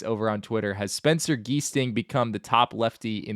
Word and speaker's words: Giesting: By the way, one of his family members told me on Twitter that it's a hard G like Germany. Oh, interesting. Spencer Giesting.